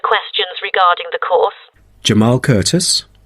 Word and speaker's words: Curtis: regarding the course jamal curtis how do you say curtis oh it's c u r t i s thank you that